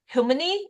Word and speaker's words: Humony: Humany? Like, why is it called Humany? Well, humany is thank you for the pronunciation. That's correct.